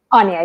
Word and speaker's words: Anya: Anya, yeah, like tell me without the T.